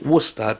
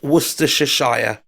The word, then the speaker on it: Worcester: like warer wer Worcester the way to say it is Worcester w o s t e rerer yeah Worcester Source but actually reading it phonetically it's wer Shire Wester Shire yeah Wester Shire but it's just wer sauce okay I have right